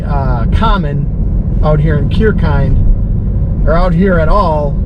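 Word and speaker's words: Kirchhayn: to a town i never knew how to pronounce this uh cure kind is how you pronounce it it looks really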